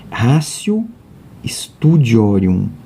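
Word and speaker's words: Ratio Studiorum: te de olho aqui está em latim porém a pronúncia é o rácio estúdio orion esse é o método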